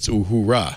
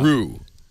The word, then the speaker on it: Uhura: And by the way, the Persnickety chat room says it's Uhura. Uhura, it is. Not Uhura. Uhuru. I just mispronounced it.